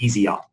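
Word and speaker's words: Yseop: insights narrative science and easy op that's how you pronounce that last last one uh automated insights actually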